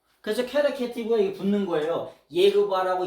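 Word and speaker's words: יהוה: 예흐바라고 읽자. 에? 야훼라고 하는 발음은 근거 없는 발음이에요.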